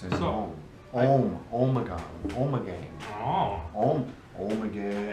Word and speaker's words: Ommegang: Oh, Ommegang.